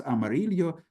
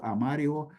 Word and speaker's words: Amarillo: It became pronounced as Y, like the Y in the word boy, or even this letter was came to zero sound. And we find numerous examples of that in names in the Ottoman Empire. So, for example, the original name was Amarillo, so yellow, and we find in Ottoman Empire such variants as Amarillo or Amario, Escao, that is spelled in all the old documents with double L, Gallego, original word was Gallego, etc., etc.